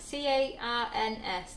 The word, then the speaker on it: Cairns: Carns. C-A. How do you say that? C-A-I-R-N-S.